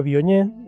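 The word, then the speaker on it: Viognier: El Bognier se escribe con corta, Biognier se pronuncia Bioñ.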